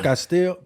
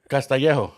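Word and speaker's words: Castillejo: Was it Castillo? How you say it? How you say that fool right? How you say it? I can't even say his name right there. Yeah, Castellejo. Castellejo. That's right. Castellejo, I remember, yeah.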